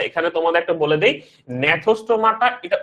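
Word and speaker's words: Gnathostomata: ও আচ্ছা, এখানে তোমাদের একটা বলে দেই, নেথোস্টোমাটা এটা উচ্চারণ, নেথোস্টোমাটা বা সামনে কি থাকবে, জি আছে একটা, সামনে কিন্তু একটা জি আছে, সামনে একটা জি আছে। তো এটা উচ্চারণটা কিন্তু নেথোস্টোমাটা, উচ্চারণ হচ্ছে নেথোস্টোমাটা। ইংলিশ টার্ম হচ্ছে, তুমি ইংলিশ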